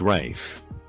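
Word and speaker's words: Ralph: it's spelled Rafe well it's pronounced Rafe well it's the F king English language Ma you can't just make up shti well it is name he can pronounce it any way he wants fine from now on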